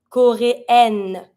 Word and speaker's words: coréen: So un coréen, I don't pronounce the N because en together make the sound un.